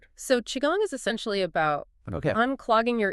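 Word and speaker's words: qigong: First up, the movement practice of chiong, pronounced chiong.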